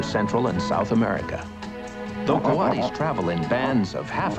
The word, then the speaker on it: coati: This is a Coati. You might have heard him called a Coati, since his name is spelled C-O-A-T-I.